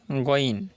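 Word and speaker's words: غ: The correct pronunciation is goin. You have to say goin.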